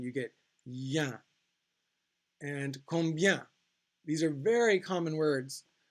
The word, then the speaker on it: combien: And combien. These are very common words. Combien. Remember, don't pronounce the M. This has 2 different nasal vowel sounds in this word.